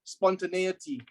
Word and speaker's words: spontaneity: bleeding prepared for spontaneity it is pronounced as spontaneity challenge your boundaries the